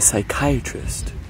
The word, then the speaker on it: psychiatrist: so why can't you hear a psychiatrist use the bathroom because the pee is silent what's up milers